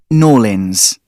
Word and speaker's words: New Orleans: But people in New Orleans don't use that name. They call it N'Orleans. That isn't a nickname, that's their pronunciation.